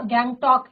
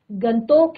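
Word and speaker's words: गंगटोक: कहा कि तभी इतना गैंग टॉक इतना सुंदर है गैंग टॉक ही नहीं मैम गंगतोक नहीं मैम गंतोक कहिए इसका असली नाम गंतोक है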